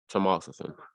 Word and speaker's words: Tamoxifen: Tamoxifen.